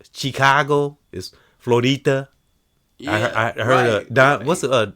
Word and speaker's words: Florida: It's not Florida, it's Florida.